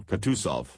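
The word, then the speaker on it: Kutuzov: Prince said annaa General kusov said bonsky speaking French and stressing the last syllable of the general's name like a Frenchman has been pleased to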